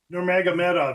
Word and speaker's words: Nurmagomedov: Nurmagomedov. He is the cousin to Khabib Nurmagomedov, the ex-great, and that's who trains him. He recently fought Merab Dvalishvili. Dvalishvili toyed with him and beat him because Nurmagomedov ran out of gas.